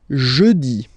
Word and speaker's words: jeudi: Next one, jeudi. Jeudi. Remember, when you combine this U, you get the sound jeudi. Jeudi. So I insist a little bit, so make it softer.